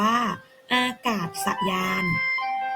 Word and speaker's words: อากาศยาน: ค่ะ อีก ต่อ ไป อากาศยาน อ่าน ว่า อากาศยาน หมาย ถึง เครื่อง นำ